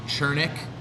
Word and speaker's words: Czoernig: Von Chernick spelled with a couple Z's. There's an E in there. Couple Z's. Spelled CZOERNIG.